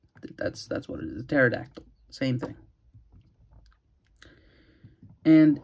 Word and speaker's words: pterodactyl: I think the P is silent. It's just a pterodactyl. That's what it is. A pterodactyl.